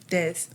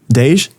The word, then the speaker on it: Des: Your name? Des. Dej? Des. Talking to Mike. Des. Yeah. Des. All right. Like that, Des? I said it right? Yeah.